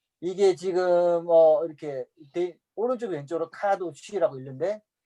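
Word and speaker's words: קדוש: 카도시. 카자는 세게 안 하셔도 돼요. 그냥 카도쉬.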